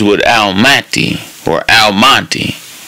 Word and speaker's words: Al-Mahdi: His name is Lamonti, which rhymes with Al-Mahdi or Al-Mahdi, which rhymes with Almighty.